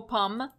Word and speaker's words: Pommes: The French have a lot of letters at the ends of words that are not pronounced.